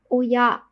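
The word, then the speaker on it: 親: Tiếp theo, chữ thân đọc là uya.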